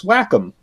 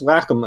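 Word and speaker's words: Wacom: player in that market known as Whackom I believe is exactly how you say it. It looks like it should be Waycom or something but no it's Whackom I think.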